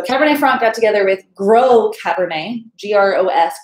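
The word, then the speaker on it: Gros Cabernet: franc got together with grow cabernet g-r-o-s gross cabernet but grow it's pronounced and and made that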